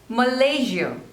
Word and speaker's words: Malaysia: Madagascar Madagascar next is Malaysia Malaysia so there are three syllables and the stress is on the second one Malaysia Malaysia Malaysia next